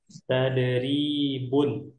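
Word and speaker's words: تدريبٌ: Ini cara bacanya tadribun.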